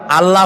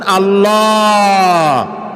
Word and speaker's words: আল্লাহ: বলেন তো আল্লাহ নয় কিন্তু আল্লাহ হচ্ছে অশুদ্ধ শুদ্ধ হচ্ছে আল্লাহ বলার সময় মুখটা গোল হয়ে যাবে বলেন তো সবাই উচ্চারণ করেন আল্লাহ আবার বলেন আল্লাহ আবার বলেন আল্লাহ সুবহানাল্লাহ কি